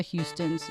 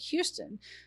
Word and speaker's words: Houston: The spelling of her last name is Houston, which to a Texan looks like Houston, but if you think about Houston Street in New York City, it's Houston. Yes.